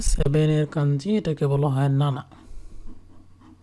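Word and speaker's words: なな: এরকম এটা হচ্ছে 7-এর কাঞ্জি, এটাকে বলা হয় নানা। নানা অথবা সিচি উচ্চারণ করে, সিচি।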